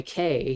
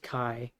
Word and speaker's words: Kai: Everybody's on edge because they're hunting this witch, and Eckhart just kind of appears, and the altar boy Kay, he ends up, or Kai, they pronounced it Kai, um, ends up stabbing Eckhart just complete He accident.